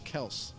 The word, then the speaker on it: Kelce: He goes, yeah, actually, my father, the real pronunciation is Travis Kels.